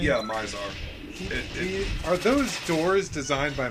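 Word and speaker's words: Mizar: So, I'm assuming that Myzar, is that how you pronounce his name? Yeah, Myzar.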